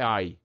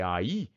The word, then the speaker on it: aí: Bateu o olho ali e falou: "Meu, não é ai, é aí". Eu vou ter que marcar isso com acento para não continuar com a pronúncia de ai, né?